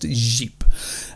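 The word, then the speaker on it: Říp: of jeep that's spelt rip uh but it's pronounced jeep now a team of archaeologists from the university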